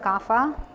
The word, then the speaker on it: GAFA: Not to pay back debt in Korean pronunciation, but Gafa.